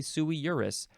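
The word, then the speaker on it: sui juris: parent uh suie jurus let me I pronouncing that correctly sui yeah you could also say sui Urus uh it means of age or independent the beneficiaries are all sui jurus uh they're all of age uh so you are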